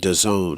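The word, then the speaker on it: DAZN: like like boxing in like soccer overseas uh pronounced the zone has been described as the netflix of sports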